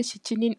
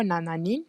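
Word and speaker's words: 七人: and then number 7 shichinin or nananin. Of course, they have for number 7 you have 2 ways of pronouncing it. It's shichi or nana.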